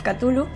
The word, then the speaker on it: Cthulhu: trata de Call of Cthulhu. En el blog lo he pronunciado de otra forma, pero me han dicho que se pronuncia así.